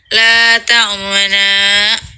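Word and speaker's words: لَا تَأْمَنَّا: Nah, karena itu termasuk bacaan ishmam, cara membacanya yaitu la ta'manumna. Namun, kata nu yang menjadi tambahan hanya diisyaratkan dengan gerakan bibir, ditambah mencucu tanpa suara. Jadi, suara yang kedengarannya hanya sebatas la ta'mana.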